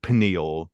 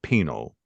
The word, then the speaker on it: pineal: he also pronounces it though not like pineal, but he pronounces it penal, right?